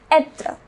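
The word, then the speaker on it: être: But there is one important verb which is etre. It is pronounced etre.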